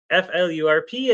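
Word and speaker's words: flurp: is FL flirt flirt it sounds like flirt but it rhymes with burp um f lurp and it is aggressively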